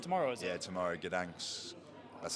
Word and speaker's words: Gdańsk: Yeah, tomorrow, Gdańsk.